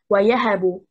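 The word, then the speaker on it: وَيَهَبُ: The stress is on harakat al-ya, the second haraka. We say wayahabu مفاعل and not ويهب مفاعل and not ويهب مفاعل and not ويهب مفاعل.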